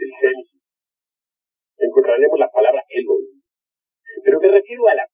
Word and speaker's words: Elohim: Elohim, que se se pronuncia Elohim porque la H suena como J y significa yos.